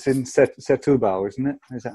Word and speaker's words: Setúbal: sample at Firehouse once, and then it's in Setúbal, isn't it? Is that how you say it? Setúbal, yeah.